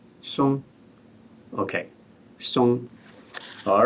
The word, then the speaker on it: Song: So, but in Chinese it's pronounced Song.